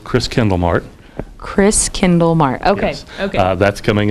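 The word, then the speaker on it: Christkindlmarkt: You say it like it's spelled, Chris Kindlemart. Chris Kindlemart.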